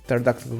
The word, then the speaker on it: pterodactyl: Duzord, why can't you hear when a pterodactyl goes to the toilet? Because they are dead. They died. Millions of years. Because the P is silent.